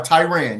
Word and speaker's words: Tiran: Tyran, am I saying it correctly? Good evening. Good evening. Hey, how you doing? Dr. You are Tyran.